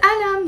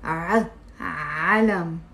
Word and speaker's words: عالم: It's not alam. You see, if I cover the number three and pronounce it alam, alam, the meaning even will change, and it will become a pen. Thank you. And it becomes a pen or a pencil. But it's عالم.